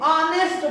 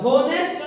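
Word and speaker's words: honest: ही इज ऑनेस्ट बोलते हैं, होनेस्ट नहीं बोलते हैं, क्या बोलते हैं, ऑनेस्ट। तो एन ऑनेस्ट होगा, क्या होगा, एन। एच कॉन्सोनेंट है लेकिन प्रोनाउंसिएशन कैसे है, वोवेल है, इसलिए एन लग गया।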